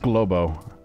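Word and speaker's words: Glowbo: bag glbo I it's pronounced globo but I keep saying it glbo for some reason I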